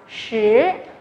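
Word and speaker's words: 十: Chúng ta sẽ đọc cái này là shí, shí. Có vẻ là hơi khó bởi vì chúng ta chưa học cái âm SH này.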